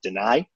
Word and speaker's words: Denai: I called him Dennis Sutton. It is Denai.